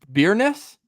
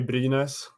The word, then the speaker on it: Brynäs: The hometown team, and excuse my pronunciation, is it Byrnes? Yeah, that's the team. Yeah, exactly. That we say Brynäs.